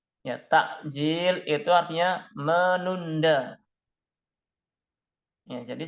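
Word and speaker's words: تعجيل: Kalau pakai K, takjil itu bukan bahasa Arab. Yang dari bahasa Arab ya istilah untuk berbuka puasa menyegerakan itu pakai ain, takjil.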